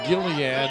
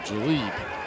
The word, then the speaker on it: Jalid: Yes, his name is not Gilead, even though in church I was always told that there is a balm in Gilead, but he pronounces his name Jalid.